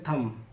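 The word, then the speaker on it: thumb: बाद टी से पहले एम के बाद टी से पहले बी आता है तो बी को पढ़ा नहीं जाता है जैसे लिखा सीओ एम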